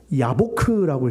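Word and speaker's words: יבק: 일부러 이렇게 만들어 놨어요.이 야곱이라는 말을 히브리어로 어떻게 읽냐면 야코프라고 읽어요. 야코프. 그리고 야복강이라고 했잖아요.이 야복이 뭐예요? 야보크라고 있습니다.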